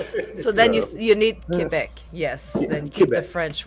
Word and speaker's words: Quebec: preferred pronunciation of Quebec uh Quebec is good because it's the French way of saying it okay English people will say Quebec but either way we understand you're talking about us I always want to